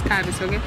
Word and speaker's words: Kis: kis primary school okay I like pronouncing it the way it should be it's kis so when in that